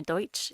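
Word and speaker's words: Deutsch: that's been messed up it's actually the Pennsylvania deuts it was German immigrants and misunderstandings mispronunciations over the word made everyone call it Pennsylvania Dutch but there's a lot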